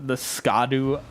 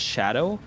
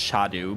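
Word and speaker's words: Scadu: area as like the Skadu Altus, and that's what I did as well in the beginning because I didn't know. That's an old English word. It's pronounced shadow, like just like the shadow, and it means the exact same thing.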